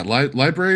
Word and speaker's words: library: So, but yeah, library is one of those letters. The R in library is supposed to be pronounced.